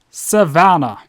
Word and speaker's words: Savanna: doubt till damage cements it is pronounced a Savannah so it's van and not von or however VIN however I